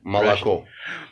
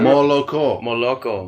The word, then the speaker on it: молоко: Молоко. Stupid Malaco. Yeah. Oh yeah, Malaco. That you know what that Moloko.